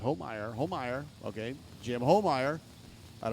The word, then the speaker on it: Homeyer: Pronounced Homeyer.